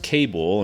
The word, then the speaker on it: Kabul: name was Chief Kabul, pronounced Cable and spelled K A B U L.